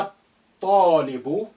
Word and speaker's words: الطالب: Ta is sun letter, and that's why the lam has become quiet. Alif is quiet, is silent, because it's not at the beginning. Therefore, we need to link the a to the first to, which is hiding here, carrying sukun.